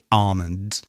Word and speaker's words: almond: We have half, calm, yolk, palm, and this last one that lots of people get wrong, almond. Many native speakers do actually pronounce the L in almond and say almond or almond. It's controversial. I don't want to get into it. In general, we say almond.